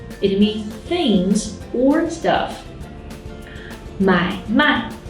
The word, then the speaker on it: 买卖: 买卖 means to buy and sell. But if the second syllable turns into a neutral tone like 买卖, it means business.